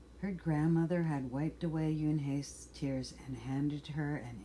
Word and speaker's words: Unhei: "It is spelled Unhei. It's pronounced Unhei." "Oh, it's you-hey," said a boy. "Like you. Hey.